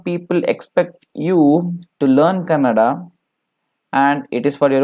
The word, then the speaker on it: Kannada: without letter for example if it is Canada people tend to pronounce it as colored but the actual word is Kannada and its act when